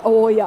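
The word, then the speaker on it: Oaia: i can see the island out there is oya island spell it o a i a oh good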